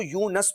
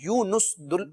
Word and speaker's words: یونس: اب یہ جیسے ان کا نام ہے یونس، قرآن مجید میں بھی جو ذکر کیا گیا، بعض لوگ اس کو یونس پڑھتے ہیں، یونس درست تلفظ ہے.